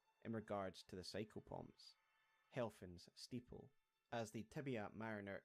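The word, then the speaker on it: Helphen: The spelling of Helfin may not necessarily mean anything spelled out, but phonetically it is the same as the German word Helfen, meaning help or assistance in English.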